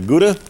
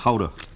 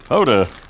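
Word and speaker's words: Gouda: you got a lot of cheese here got guda yep and we've got different kind of cheese in there as well actually it's pronounced Hoda h that's okay yeah Hoda you remember the TV show how to duty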